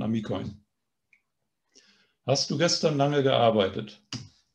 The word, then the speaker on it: amikojn: Und wie gesagt, die Betonung bleibt auf dem I. Auf der vorletzten Silbe wandert nicht auf die letzte. Also nicht Amikoin, sondern Amikoin.